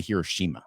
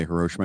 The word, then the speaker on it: Hiroshima: Um so you take the bullet train, you're going to Hiroshima. Yeah. And it's not Hiroshima cuz I know I hear a lot of Americans say Hiroshima. It's Hiroshima.